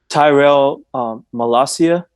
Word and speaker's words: Tyrell Malacia: I can't pronounce his name. The So left back. it's Tyrell Malacia.